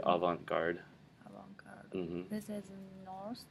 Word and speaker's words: avant-garde: This is a French word, so people are saying it wrong anyway.